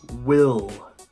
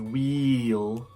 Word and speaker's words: will: a dark L sound I want to focus on the short I sound so if you are saying a long e sound such as wheel wheel you are saying it wrong this is a short